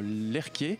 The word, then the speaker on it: Lerche: Alors, l'animé est produit pour rappel par le studio Lerquet, donc ça s'écrit Lerche, mais il faut prononcer Lerquet comme Jean-Michel.